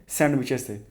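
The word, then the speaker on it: sandwich: विशेष द उसमें 6 सैंडविच देखिए जो स्पेलिंग है ना इसमें दी साइलेंट होता है सैंडविच सेंड विच इसमें दी क्या होता है साइलेंट होता है थ्री पीस ऑफ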